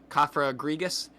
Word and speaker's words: Cofagrigus: how to say it kafra grigas you have to remember it's like coffin and egregious I'll probably be calling